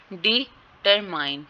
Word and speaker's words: determine: डिटरमाइन डी पे है लेकिन आगे वाले वर्ड पे नहीं है।